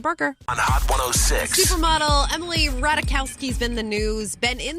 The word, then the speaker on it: Ratajkowski: she had to say Emily how do you pronounce your last name Emily radakowski I think I'm probably gonna keep calling her